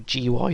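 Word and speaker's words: GUI: going to add some uh gooey text or G by text depending on how you want to pronounce it for graphic user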